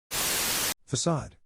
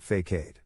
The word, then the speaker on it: facade: Facade. Yeah, it's not fakeade.